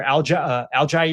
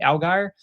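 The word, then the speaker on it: Allgeier: Quinshon Judkins, who was a stellar young player there, limited snaps this year, but Tyler Algier, I think is how you say the name, Algier.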